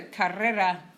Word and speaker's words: carrera: to clarify what's a Carrera that's a hard one to pronounce if you can't really your R's Carrera our career mm-hmm Carrera